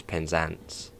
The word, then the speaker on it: Penzance: Most of the time I do pronounce them wrong. And that one, yeah. And Penzance. Which obviously is Penzance.